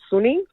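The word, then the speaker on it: Sonny: My middle son is Sunny, spelled with an O, and people read it as Sunny.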